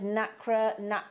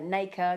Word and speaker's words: nacre: get is just that secretion of nacre, or as Charlie Barron will say, nacre, because that's how he pronounces it, but however you say